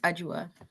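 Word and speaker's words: Adwoa: It's pronounced Ajua.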